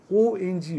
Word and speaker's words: ওং: ওং, ONG ওং, OM নয়, ONG ওং, হ্রিং HRING হ্রিং, RING রিং নয়। অনেকে ভুল উচ্চারণ করে, OM বলে, RING বলে, এগুলো বলবে না, এগুলো ভুল উচ্চারণ।